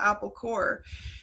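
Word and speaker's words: Apple Corps: it was already taken but corpse is actually pronounced core there so it's still apple core and the reason that that's the place is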